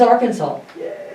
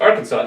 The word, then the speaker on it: Arkansas: According to a 2010 resolution, this southern state's name should be pronounced in 3 syllables with the final S silent.